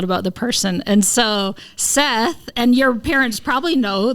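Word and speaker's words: שת: So there's the characters on it, but it's actually pronounced, in Hebrew it's pronounced Set.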